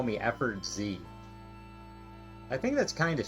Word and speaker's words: Effortz: But it's just, it's like efforts, but instead of an S, it's a Z. I just think it's harder, it would make it harder to pronounce if you had to say Effort Z every time.